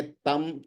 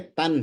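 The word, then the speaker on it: तं: अब जैसे ये तम तम नहीं है, तन है, तन, क्योंकि ब्रैकेट में जो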